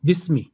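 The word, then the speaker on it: باسم: تو یہ یہاں پہ یہ دیکھیں, یہ یہاں پہ بھی 4 حروف لیکن تلفظ بسمی, اور ہمیشہ لکھا ہمیشہ الف کے ساتھ جائے گا اسمی, لیکن پڑھا بسمی جائے گا جیسے کہ بسملہ پڑھی جاتی ہے.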